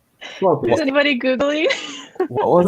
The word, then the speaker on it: popis: The word is pronounced Poppy. Popis.